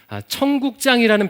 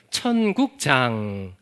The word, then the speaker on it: 천국장: 별명이 하나 붙어 있어요 청국장이라는 별명이 붙어 있습니다 그럼 발음을 잘 해야 됩니다 우리가 먹는 청국장이 아니고 니은 받침이에요 천국장 여러분 마태복음에서 천국이라는 단어를